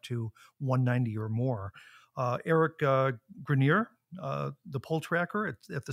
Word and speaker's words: Grenier: Eric Grenier, the poll tracker at the CBC, if I pronounce his name right. Grenier, but close. Grenier, of course.